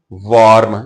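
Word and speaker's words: warm: और उसके बाद देखें वार्म इसे वार्म बोलते हैं नहीं जब डब्लू के बाद ए आ जाता है तो ओ ही साउंड निकालनी है करेक्ट प्रोनंसिएशन के लिए वर्म this is वर्म वाटर this cloth is वम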